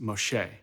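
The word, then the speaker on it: משה: but it's really close in hebrew moses is pronounced moshe the hebrew word for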